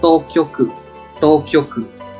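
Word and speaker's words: 当局: Cách đọc của nó là Tokyoku.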